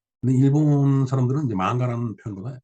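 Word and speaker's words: 漫画: 근데 나중에 이제 일본말을 공부하면서 보니까 만화가 일본 발음으로 이제 만가였습니다. 근데 일본 사람들은 이제 만가라는 표현보다 이 애니메이션이라고 이제 부르죠.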